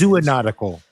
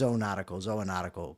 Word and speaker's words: zoonotic: Zoonotical. I think it's zoonotical, because if it's zoo, then you would require a third O.